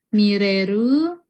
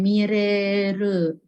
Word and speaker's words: Miller: Kalau Miller sensei cenah. Miller ini nama luar negeri ya. Dia pelafalannya gimana kalau Miller? Mireru, Dewi Ratih namanya Miller. Dewi Ratih Millerwi, mantap ya. Oke, minasang udah ditulis. Mire, Mireru. Biasanya Mireru, jadi dia panjang ya, Mireru.